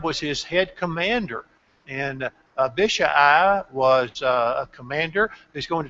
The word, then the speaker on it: Abishai: Notice that Abishai, and oh, how I wish that was just Abishai or something like that. But it's Abishai. It's 4 syllables. Abishai.